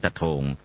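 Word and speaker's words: ตะโท่ง: หรือ เมือง ตะ โท่ง ภาษา พม่า ไทย เรียก ว่า ตะ โทง ใคร เรียก ว่า สะเทิม พม่า ออก เสียง ต โทง นะ ฮะ ก็ เมือง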